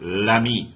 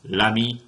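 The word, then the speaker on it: l'ami: is all one word Lami Lum there's no pause between the article and the noun anymore Lami lum uh feminine right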